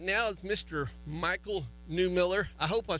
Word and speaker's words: Mychal Newmiller: Mychal Newmiller.